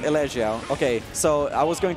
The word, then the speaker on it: Elexiao: Elexiao. It depends how you want to go for it. Because I want to go for the French. I want to respect that. Elexiao.